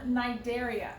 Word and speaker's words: Cnidaria: next we have phylum Cnidaria it's a C n but the C is silent these are your jellyfish